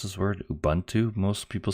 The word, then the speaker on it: Ubuntu: of you sure how to pronounce this word Ubuntu most people say it's actually pronounced Ubuntu so boom - so I'll try and keep